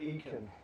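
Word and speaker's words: Eakin: It's How do you spell that? Aitken. She wants. It's E-A-K-I-N. She calls it Aitken.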